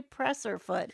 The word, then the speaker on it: presser foot: It is a presser foot. It's how it's spelt and it's how it's said.